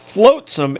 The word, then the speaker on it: flotsam: Okay, it's not flotsam, it's flogsam. No, it's Long Island pronunciation, and it's FLAUGHT no SOM. FLOTS, either AM or OM, depending on your spelling.